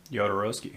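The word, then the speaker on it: Jodorowsky: the sci-fi team was gotten together for uh Yodarovski. Did I say it right? Yodaroski.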